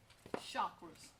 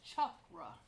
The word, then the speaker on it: chakra: And in the Eastern world, and this is where the chakra ideas originated, the correct name is chakra. It's spelled chakra, but here we say chakra because of our language.